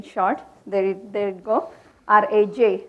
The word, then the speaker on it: Raj: there there it go r AJ Raj is how I get pronounced sometimes it get confused